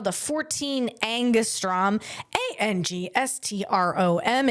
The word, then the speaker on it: angstrom: It's called the 14 Angustrom A N G S T R O M. And you could pronounce that however you want, but I'm going to pronounce it angstrom.